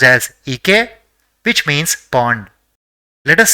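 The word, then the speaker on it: 池: So it will be pronounced as Ike, which means pond.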